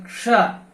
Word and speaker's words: क्ष: इसका सही उच्चारण है क्ष, क्षत्रिय, वृक्ष, कक्षा। तो इसमें क और श मूर्धन्य श की ध्वनि आनी चाहिए, यही इसका शुद्ध उच्चारण है।